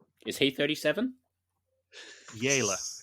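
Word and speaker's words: Jelle: Yela is his name. Spelled like jelly, but with an E instead of a Y at the end.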